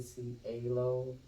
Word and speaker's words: Cielo: have a hard time saying my name Queen see Halo you call me five queen or empress would